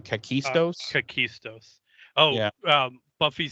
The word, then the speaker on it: Kakistos: say the real hit the thing's actual name kakistos kakistos oh yeah um Buffy says to the